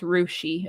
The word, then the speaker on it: Russia: Chillicothe, and then there's a town name spelled like Russia, but it's pronounced Rushi, Ohio.